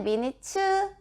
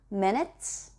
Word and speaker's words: minutes: Do you need a few minutes의 치는 minutes, 치 발음 빼지 마시고요. minutes.